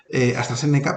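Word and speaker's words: AstraZeneca: técnicas de habla con con s se pronuncia hasta séneca pues lo que os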